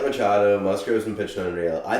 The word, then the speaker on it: Machado: I do like McAdoo. Machado. I couldn't pronounce his name until like 10 minutes before this episode.